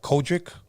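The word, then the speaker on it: COGIC: pronouncing it right um the church is called kojic oh I don't know a c-o-g-i-c there you go and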